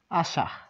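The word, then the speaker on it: 朝: এটি এটির নাম হচ্ছে এটি একাই উচ্চারণ হয় তাহলে এটির নাম আশা আশা আশা মানে সকাল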